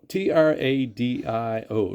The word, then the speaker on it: Tradio: anyway so I went online and it's called it's spelled t-r-a-d-i-o Tradio for butchering yeah but trade you and